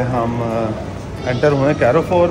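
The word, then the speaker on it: Carrefour: तो गाइज अभी जो है हम एंटर हुए कैरोफोर में। ये कुछ चीज़ें भूल गए थे। वो क्या भूल गए? कहते हैं इसको कारफोर कहते हैं। कारफोर कहते हैं, कैरोफोर नहीं कहते।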